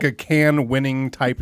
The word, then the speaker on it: Cannes: Is it in fact pronounced can? I think it is. Adam? I say it's con.